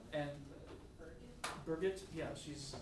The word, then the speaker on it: Birgit: and Birgit, yeah, she's, It's like a backward Bridget.